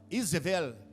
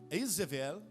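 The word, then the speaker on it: איזבל: A palavra em hebraico, Jezabel, Izevel, significa casta. Izevel, a palavra L no hebraico não se pronuncia U, é como se fosse um L, Izevel.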